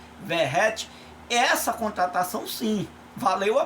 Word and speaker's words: Verratti: Claro que nós vimos o Verratti, que a gente chama Veguete, né? Mas a pronúncia é Verratti.